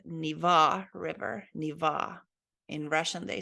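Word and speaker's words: Нева: I think we pronounce this totally wrong because we say Neva Joki and Neva River, but it is supposed to be said like E sound, Niva River, Niva.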